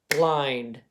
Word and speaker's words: blind: So remember, this would be a closed syllable exception, okay? Because even though that I is blocked in, it's closed in, it makes a long vowel sound in this word.